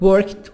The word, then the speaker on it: worked: Work, worked, worked. D. We'll pronounce it like ta sound. هننطق الدي هنا اللي في الآخر الverb زي تي خفيفة.